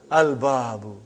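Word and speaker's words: الباب: Al-babu. Is it moon letter or sun letter? Moon letter. You did pronounce lam.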